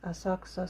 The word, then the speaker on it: Asakusa: When you say ku, the famous example is Asakusa. You remember when you talk about Asakusa Station, Ree's videos? When it is written, it's written like Asakusa, Asakusa. But when the Japanese pronounce it very light ku, it's Asakusa Station.